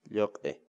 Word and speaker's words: lluq'i: Agora você está assistindo Palavra do Dia, uma série vídeos onde nós ensinamos você a pronunciar determinadas palavras em Quechua. Portanto, a nossa palavra do dia para hoje é... Lhoque.